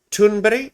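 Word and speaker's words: Thunberg: climate activist known as Greta Turnberry I think is how you say her name at least that's how Amy Goodman says it so Greta anyway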